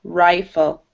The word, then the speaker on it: rifle: So because there's an E at the end, it's actually a long I, rifle, rifle.